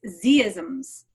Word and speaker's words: Z-isms: know being Canadian right right zed zee i mispronounce name its z isms right yeah well it's okay cuz every time i say z isms it's like well for international i want to